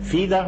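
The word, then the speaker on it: FIDE: الاقل منها اف ام فيده ماستر هي بتكتب اف اي دي اي لكن بنطق فيده النطق دايما لما اجي اقول فيده يقوم كاتبينها اف اي لا هو كده النطق بتاعها كده جا بالفرنساوي يحي بيقول امبارح عار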